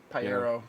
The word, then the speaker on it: Pajero: I feel like the Pyero is a different size, isn't it? Well, it is actually it is just the Pyero, but American. Pyero, but Pyero, I believe. Pajero. Pyero. I think it actually Pajero is is wrong.